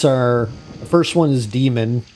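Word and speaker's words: Daemon: um the books are the first one is demon it's spelled D E sorry d-a-e-m-o-n and the second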